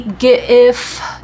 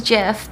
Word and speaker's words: GIF: Well, that would be hard G for graphics. Interchanging or interchangeable, that would be and the format would be f. So it'd be GIF, yeah.